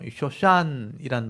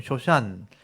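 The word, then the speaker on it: שושן: 쇼샨, 백합이란 뜻입니다. 백합. 이 보면 쇼샨, 이게 점이 달려 있죠. 여기는 이게 쉬 발음인데, 이건 오 발음이니까 쇼, 이건 니언이거든요. 샨, 쇼샨인데, 여기 복수가 되면 이 임이 붙어요.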